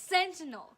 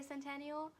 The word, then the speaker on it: sentinel: Do you say sentinel or centennial? It's sentinel. Comment it's spelled down sentinel. below what you think. Because I say centennial, she says sentinel. I've seen the word centennial. It is spelled differently. I know it's sentinel, but I can't stop saying it like that.